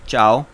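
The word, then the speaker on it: ciao: This word is called चाओ, N acknowledgement that can be used to से hello and good bye. Aloha is Hawaiian and चाओ is Italian.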